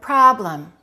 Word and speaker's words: problem: Which one is correct? Problem or problem? Problem. Stress the first one, reduce the second one.